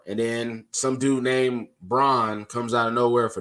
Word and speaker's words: Braun: then some dude named Braun comes out of nowhere for Denver Christian broad game his name it's pronounced Brown now Kristen Brown gives